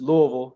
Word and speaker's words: Louisville: know I gotta say I gotta correct you I I it's Louisville you got to say it like with your mouth full of food man it's weird when